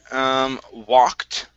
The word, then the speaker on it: walked: Let's go to the word walked. Right here, so the ed ending here will sound like a T instead of an ed. Walked, it's walked. Walked.